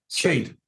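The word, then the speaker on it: Skeid: I can't pronounce this word now. You've told me already. Skilled football club. Skade.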